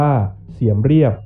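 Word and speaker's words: សៀមរាប: ที่ เมือง เสียม ราช หรือ ชื่อ ท้อง ถิ่น ออก เสียง ว่า เสียม เรียบ ห่าง จาก กรุง พนมเปญ เมือง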